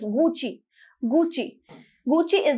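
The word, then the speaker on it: Gucci: हम साउंड करते हैं घुसी इट्स नॉट गो सी इट इस गूची गूची गूची इस डी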